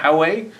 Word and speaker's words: Huawei: How do you pronounce that telecom company in China? Huawei.